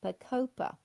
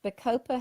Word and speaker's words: bacopa: Not a lot of people know about bacopa. But bacopa has been used in Australia for many years for dementia and autism.